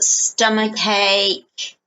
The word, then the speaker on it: stomach ache: okay so you've got stomach ache again sound both amok and ache okay so it's like a stomach ache a bit like cake the you eat stomachache